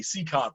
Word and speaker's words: Cicotte: Travis was correcting my pronunciation, Eddie Cicotte there.